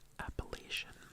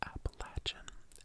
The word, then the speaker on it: Appalachian: Saucy e l and the first one is Appalachian appal appal like the mountains appal appal Appalachian but I know a lot of people also say appalachin appalachin appalachin appalachin appalachin and correct me if I'm wrong I think appalachin is more accurate No appal appalachin appalachin